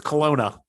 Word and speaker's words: Kelowna: well now yeah yeah i always put a w in there but it's kelowna um silent w um